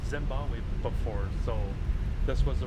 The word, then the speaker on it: Zimbabwe: I never fly out of Zamba Z. I'm saying it wrong. Zimbabwe before.